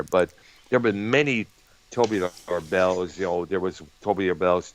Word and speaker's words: Tubular Bells: He played all the instruments on the majority of his albums, including Tobar Bells, which later became the theme music for the Exorcist movie back in '73. You mean Tubular Bells?